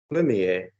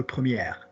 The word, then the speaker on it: premier: Premier. Premier, no première. Good. So nice pronunciation on the no R.